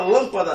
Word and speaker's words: lâmpada: A palavra lâmpada, separa a palavra lâmpada. Essa palavra aqui ela é proparoxítona. Por quê? Porque a sílaba forte é aqui. Lâmpada.